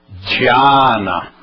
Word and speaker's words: Dhyana: Mas se eu puser DHI ou DHY, eu vou dizer Di, Dhyana.